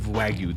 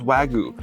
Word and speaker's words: Wagyu: And that meat is Japanese A5 Wagyu, the most expensive meat in the world.